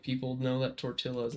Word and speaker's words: tortilla: Because we have, if it's two L's, it's a yeah. It's yeah. It's a Y thing. Yeah. But that's like why tortilla is a thing, but I feel like people know that tortilla is not how you say it.